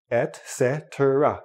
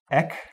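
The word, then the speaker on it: et cetera: Now, some native speakers will say etcetera, etc. Most will say ec-se-tra. That's what it sounds like when most native speakers say it, etc.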